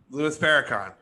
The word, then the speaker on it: Louis Farrakhan: don't know him yeah farrakhan fair louis farahan louis farrakhan is that how you pronounce it yeah are you sure i thought